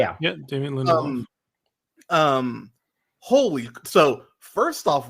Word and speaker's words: Lindelof: I had the showrunner, Damon Lindelof, I think that's how you say it. Yeah, Damon Lindelof.